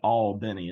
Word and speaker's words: Albany: you grew up in Albany Georgia what was your childhood like down there well well you pronounce it all Benny it's it's two syllables there all Ben dude no but it